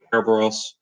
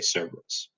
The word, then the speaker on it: Cerberus: back the hellhound severence you're using your Greek pronunciation that's usually more like kerberos on that's he actually had Wisconsin landing too but nowadays we tended to say Cerberus this is the actual